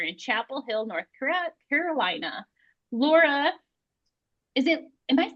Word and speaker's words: Lara: Laura, am I saying it right? Lara or Laura? Lara, yep.